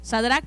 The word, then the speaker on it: Shadrach: I feel like I have to say an extra syllable, right?